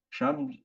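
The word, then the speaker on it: שם: Sham, c'est le che, la prononciation che, le shin, et c'est che en allemand, et c'est stellen en allemand, ce qui veut dire placer.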